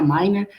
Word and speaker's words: Minehr: coloca um disclaimer aí que se pronuncia Miner Mas a gente não fica ofendido aí com outros apelidos minar min RH a gente escuta aí